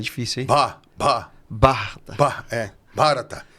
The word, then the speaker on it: Bharata: Bharata. Nossa, é difícil, hein? Bharata. Bharata. Bharata. Sabe o sulino que ele fala? Bate, sabe? Sim, lembrar assim um pouquinho fica mais fácil para pronunciar.